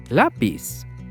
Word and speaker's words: lápiz: Lápiz. Lápiz. We stress the syllable la.